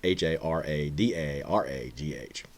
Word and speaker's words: Haradarar: I can't pronounce that very well. So, but it's Haradaragh.